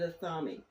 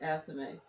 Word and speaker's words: athame: Athame, some people pronounce it athame. I pronounce it athame.